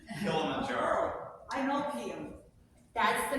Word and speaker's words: Kilimanjaro: it I need your help I'm so much pronouncing the largest freestanding mountain in Africa um thank you yes what Peter said Kilimanjaro I know Kim that's the mountain um early